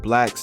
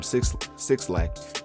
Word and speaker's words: 6LACK: Well, Black is for those that don't know, Black is an R&B artist, and it's spelled with a 6 and LACK, so it's spelled like 6LACK, but it's pronounced Black.